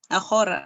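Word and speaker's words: ἀγορά: Ento agopa, agora, or yeah, something. And, well, you're very close. The gamma in Greek is not a it's Agora. agora.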